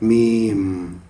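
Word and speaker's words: ميم: d'après Sunnat, mim, retourne à la perfection, le cycle complet. Quand on prononce mim, bien de la lèvre, ba aussi bien de la lèvre, non?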